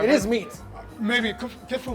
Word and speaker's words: kitfo: They're both kitfo.